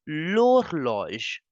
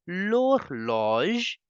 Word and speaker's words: l'horloge: So you know the rule very well that H is considered as a silent vowel. So we have to start the pronunciation from the next alphabet, next letter. So you will say wall clock in French simply as l'horloge.